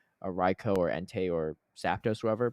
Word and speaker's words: Raikou: it's pronounced Raikou based on training Reiko.